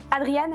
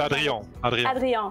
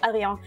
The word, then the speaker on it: Adrien: blanche, aussi fluo de Adriane. Est-ce que je prononce bien? C'est Adrien. Adrien.